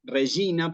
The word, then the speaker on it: Regina: La G con la I se pronuncia como una G acá, ¿sí? ¿Ok? Eso sucede con otras letras también. Regina, por ejemplo, se aplica lo mismo.